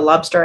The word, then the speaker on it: Lobstr: Just find the Lobster app, and it's spelled without the E at the end. So it's LOBSTR.